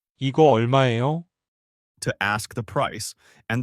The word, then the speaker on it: 얼마예요: The pronunciation is 얼마예요?